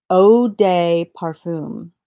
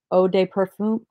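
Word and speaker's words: eau de parfum: John vintage Parfum and Oh de parfum so everybody I asked how to say EI u and everybody was like it's pronounced Oh so am I saying it right Oh de parfum wait ah Oh de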